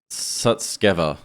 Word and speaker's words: Sutskever: I mispronounced the name of Ilya before. It's Sutskever. Ilya Sutskever. He's a chief scientist at OpenAI.